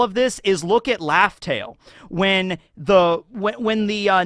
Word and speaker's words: Laugh Tale: And it's not actually spelled, it's not pronounced Raftel as in like a raft. It's Laugh Tale, which R's and L's in Japanese can be kind of swapped out.